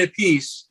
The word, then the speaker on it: Appice: then you had Vinny Appice. Does Ronnie Carmine says Carmine Appice, and then Vinny says Vinny Appice. Like they both they pronounce their last name different.